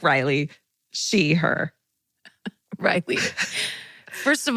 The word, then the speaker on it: Riley: Toodles, Riley, pronounced like Riley, she, her.